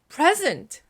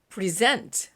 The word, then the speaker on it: present: present 앞에 강세가 있으면 선물이야. present 하면은 주다, 뭐 제출하다 이런 뜻이죠. present 동사예요. 자, 이렇게 앞에 강세가 오느냐 뒤에 강세가 오느냐에 따라서 발음도 달라지고 의미도 달라집니다.